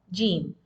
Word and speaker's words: ج: the articulation point for Jim? What is the articulation point here? As you can see in this picture, the tongue, the middle of the tongue is touching the upper roof of the mouth, and it is pronounced